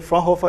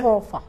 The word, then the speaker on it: Fraunhofer: Yeah, the institute is called the Fraunhofer Institute of Solar Energy. Fraunhofer.